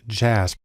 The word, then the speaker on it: JASP: has developed a program called jasb it's actually pronounced jazz which is sort of an open source version